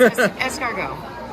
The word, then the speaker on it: escargot: It's escargot.